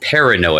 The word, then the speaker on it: Perrineau: Perrineau, I think is how you pronounce it. Perrineau, It's like French or something.